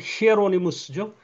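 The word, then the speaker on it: Hieronymus: 그중에서도 특별히 제롬 불가타 벌게이트 라틴어 성경을한 제롬이 라틴어 원 발음으로 히에로니무스죠.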